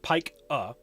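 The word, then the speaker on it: pica: PAH or P IA but pronounced pike uh is a disorder in which people will exhibit the behavior of eating non-food items.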